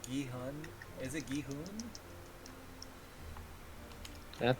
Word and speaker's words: Gi-hun: Okay, they always pronounce like Gihun.